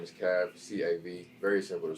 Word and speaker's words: Kav: out my name is kav c-a-v very simple to spell it's not cave because the e's gone what's the i remember